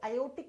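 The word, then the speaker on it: aortic: Spelling देखो बेटा, जब इसको प्रोनाउंस करते हैं तो आर साइलेंट हो जाता है, तो इसको आयोटिक या ओटिक वाल्व बोलते हैं।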